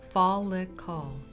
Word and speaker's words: follicle: First is the follicle, pronounced follicle.